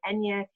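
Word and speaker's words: eñe: Spanish speaking country and Enya is spelled out phonetically n ye but it's really the phonetic spelling of the extra letter in the Spanish alphabet which is used in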